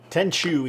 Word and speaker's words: Tenchu: We ended up picking up Tenzu, or how are you pronouncing it, Jose? Tenju? Tenchu, he's saying now, and I Tenchu? like that better.